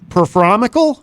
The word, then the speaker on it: Performical: Performical? Am I saying that correctly? Yeah, that's correct.